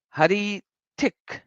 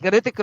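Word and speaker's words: Hrithik: Ritik, yeah, just like Ritik. So just like Ritik. Oh, just Ritik. You don't even pronounce R. H is silent.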